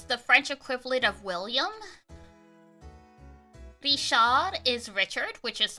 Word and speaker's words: Richard: like Gom is the French equivalate of William Rishad is Richard which is like pretty self-explanatory Suzanne